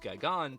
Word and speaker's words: Gigan: I used to call it Gigan, but it's Gigan. Who uncovers a plot by aliens disguised as humans to conquer Earth. They summon King Ghidorah and the newly arrived Gigan to wreak havoc, forcing Godzilla and...